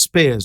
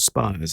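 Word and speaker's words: Speirs: did know uh steve it's pronounced spears not spires is it i think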